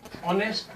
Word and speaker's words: honest: हालांकि ये एच है, अंग्रेजी का क्या है, कॉन्सोनेंट है, एक व्यंजन है, लेकिन फिर भी हम इसकी पहली ध्वनि देखेंगे, वो है ऑनेस्ट।